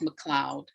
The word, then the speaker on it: McLeod: things where you know it's a celtic name it's a scots name and so even though it's l-e-o-d it's pronounced mcleod right thank you very